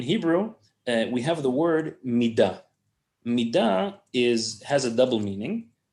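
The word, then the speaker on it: מידה: Okay, this is the word midah in Hebrew, and it's pronounced like this: midah.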